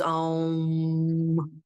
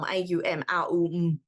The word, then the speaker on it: Om: the end of yoga when everyone goes um or it's actually a m it's not it's this is the sound of all Sanskrit syllables in the universe merged into one it's Al if anyone's interested